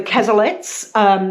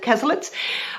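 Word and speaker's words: Cazalets: And it deals with a family, the Casalets, and the Casalets? Yes, I'm fairly sure that's how you pronounce it, Casalets.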